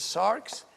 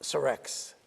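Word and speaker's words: σάρξ: It is sarx. It's not sarex.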